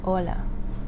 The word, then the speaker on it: hola: So again you don't pronounce the H at the beginning of the word. So that would be yellow for ice. Yellow. And then you have hola for hello. Ola.